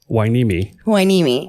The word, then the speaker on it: Hueneme: I looked it up, so I wasn't pronouncing it wrong. Oh, okay, say it again. Port Hueneme. Hueneme.